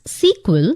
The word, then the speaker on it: SQL: full form of sql often pronounced as sequel sql is structured query